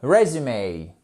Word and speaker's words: résumé: aussi résumé résumé ok accentuation sur la première syllabe Rais Raum attention c'est la même écriture que le verbeum qui signifie continuer d'accord mais ce n'est pas du tout la même prononciation résum resum resume ok